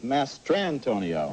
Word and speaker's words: Mastrantonio: Yes, and if she wins the Oscar this year, you will find out how to pronounce her name. It's Mary Elizabeth Mastrantonio. Okay, I does apologize. Not rhyme with San Antonio.